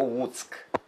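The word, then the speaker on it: Łuck: І в них є оце тверде «Л», так, яке вони не вимовляють майже «У». «У», вони кажуть.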